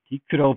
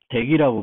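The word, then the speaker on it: deque: DQ라고 부르지 않고 보통 덱이라고 발음을 합니다.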